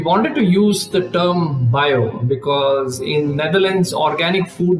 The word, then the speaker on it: Bio: And the pronunciation was bio, not bio, as we were used in India.